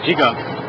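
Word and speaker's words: jika: translated into J as you pronounce it out jiga you spell a j i k a means to weave or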